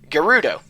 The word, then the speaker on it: Gerudo: Now, in Japanese, Geld is written and read as Gerudo. Change L to R because English is awesome, and you have the word Gerudo.